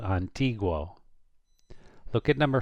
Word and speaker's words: antiguo: Antiguo, because it's G-U-O. If it's G-U-O, you pronounce the U. Antiguo.